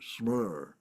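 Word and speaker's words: smṛ: So it says the root smer, I'm not maybe not pronouncing that correctly. It's supposed to be a rolled R, smer, may mean to recollect, but also simply to think of.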